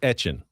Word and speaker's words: Etienne: He said today, "That's not how you say my name." Travis Etienne Etienne Etienne Etienne Etienne Etienne Travis Etienne We've all everyone Travis Etienne Jr.